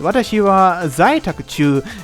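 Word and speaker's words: 私は在宅中: It's pronounced Watashi wa zaitakuchu.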